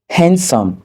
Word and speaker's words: handsome: La lettre D n'est pas également prononcée dans les mots tels que sandwich, le sandwich, Wednesday, le mercredi, handsome, beau.